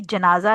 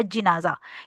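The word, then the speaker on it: جنازة: यह प्लूरल है जमा है बेसिकली जनाजा या जनाजा यानी जीम के ऊपर या तो ज़बर होगी या जीम के नीचे कसरा या ज़ेर होगी। ठीक है? तो जनाजा या जनाजा इसको दोनों वर्ड्स प्रोनाउंस किए जाते हैं।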